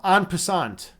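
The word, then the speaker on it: en passant: Uh tino uh tino yud, how do you pronounce Oh, on pasant. That that that's how we say it.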